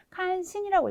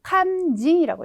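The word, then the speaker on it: 肝心: 근데 이거를 칸신이라고 읽으셔야 되는 게 아니라 요 칸징이라고 읽어주셔야 되겠습니다.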